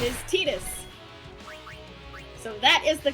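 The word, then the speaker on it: Tidus: TUS come on Jessica you know how to pronounce his name now stop it there's nothing wrong with saying Titus you're you're in good company I may be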